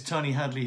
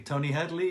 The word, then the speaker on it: Tony Hadley: far as I'm concerned, you pronounced my name absolutely correctly. Tony Hadley, you might have said Hadley, it's a slight accent, but as far as I'm concerned, you said my name correctly.